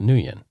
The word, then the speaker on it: Nguyen: It's Nguyen, and it's pronounced Nguyen.